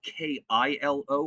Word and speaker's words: Kylo: do it yeah sure his name should be spelled k-i-l-o for pronunciation purposes i insist it is pronounced kilo um another call about